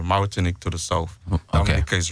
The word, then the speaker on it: Dominica: So that's the official way to pronounce it. Is Dominica.